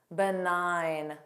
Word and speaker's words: benign: Foreign, benign, benign. The rule is GN spelling has a silent G pronunciation.